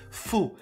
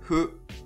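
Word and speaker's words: ふ: The hu sound in Japanese isn't necessarily fu as we know it in English, for example. It's not really about pronouncing the letter F like in, for example, kung fu. It's more light, almost like letting the air do the F sound, so more like hu, hu.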